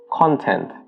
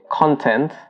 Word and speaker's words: content: However, if you're using the adjective, you'd pronounce it as content. So an example would be, I'm quite content with what I have now.